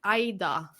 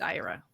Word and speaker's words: Ira: people think it's Ida, but it's not. It's Ira.